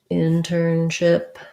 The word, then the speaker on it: internship: The stress is on ship. Sounds like in. Turn with an vowel. And then ship with an if vowel. Internship. Actually, it's not stressed on ship. Sorry. Internship. Stressed on in.